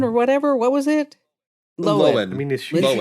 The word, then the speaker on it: Lohan: Lohan. I mean, is she Lindsay sure? Lohan. Okay. That's how her family has been pronouncing it, and her parents Lohan.